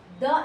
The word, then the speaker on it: the: यहाँ हम पढ़ेंगे द एलिफेंट, द एलिफेंट नहीं, क्योंकि एलिफेंट के फर्स्ट में क्या है, लेटर ई यानी वावल है। जब वावल्स के पहले दी THE आता है तो हम उसे दी प्रोनाउंस करते हैं।